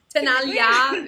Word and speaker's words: Tenaglia: Tenaglia? Tenaglia, yeah.